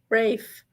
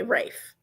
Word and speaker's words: Rafe: think it's R Rafe Rafe with a long a and Silent okay Rafe okay it's almost like